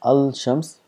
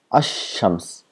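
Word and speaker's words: الشمس: al to shams, so we don't pronounce as al shams, we make this lam silent and we give shadda to the word next to it, then becomes ash-shams, as though the lam does not exist.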